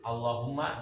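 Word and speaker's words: اللَّهُمَّ: Ingatin, Allahumma di lam sama mimnya. Allahumma sholli, lamnya bertasdid. Ala Muhammadin mimnya bertasdid.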